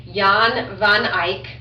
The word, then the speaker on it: Jan van Eyck: It's not an English name, so it's Jan van Eyck.